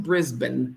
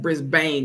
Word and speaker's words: Brisbane: They pronounce it Brisbane. I was saying Brisbane because of the way it's spelled and how it's pronounced in the U.S.